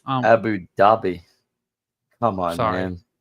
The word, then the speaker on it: Abu Dhabi: Zhao uh who now lives in Abu Dubai told the crowd that he's been advising a dozen governments on how to introduce more favorable crypto regulations. He was very pronounced Abu Dhabi.